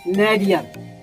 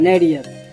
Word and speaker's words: nadir: अब जो फाइनल है नेडियर, तो NADIR, नेडियर करेक्ट प्रोनाउंसिएशन है नेडियर।